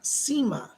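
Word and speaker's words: Sema: She gives me the name of Seema, S-E-M-A, Seema, she pronounces it.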